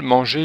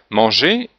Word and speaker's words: manger: Manger, on ne prononce pas le R, on n'entend pas le son R.